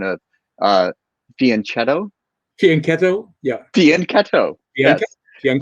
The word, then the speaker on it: fianchetto: The CH in Italian, like that, is pronounced like a K.